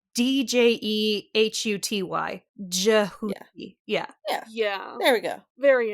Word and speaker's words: Djehuti: So, and the Egyptian, he pronounces it in the book like Djehuti, or at least Sadie does.